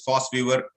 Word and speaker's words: VOSviewer: It is written as VOS Viewer, but pronounced as FOSS Viewer, as it is there in case of your German word. So V is pronounced as F.